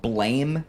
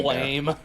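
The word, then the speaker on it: Blame!: it up it's spelled blame exclamation point because japanese translation but it's pronounced blam it's supposed to be like a gun going off like blam blam but it's you know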